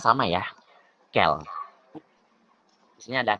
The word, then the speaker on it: quel: Nah, sekarang ada ini bacanya sama ya, kel. Di sini ada kel, kel, kel, kel. Seriusan ini bacanya kel, kel, kel, kel, kel gitu.